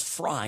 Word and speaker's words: Frey: Sorry, I don't have it in front of me and said, "Sam, I think it's Fry, not Frey."